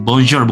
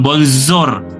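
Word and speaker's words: bonjour: Bonjor bukan bonzor bukan seperti itu ya, tapi ja.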